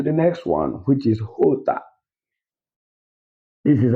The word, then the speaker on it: jota: J is not pronounced as J in Spanish. It's pronounced as H. Are you seeing the differences? This is very simple. Just walk through as I'm walking through it now. So you will understand it very well. J is pronounced as H. It has an H sound.